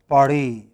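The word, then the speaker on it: Paris: a language like french in french it is always the last syllable so they pronounced pari okay they always you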